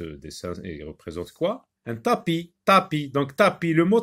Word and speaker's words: tapis: Et là, vous avez une lettre muette qui ne se prononce pas.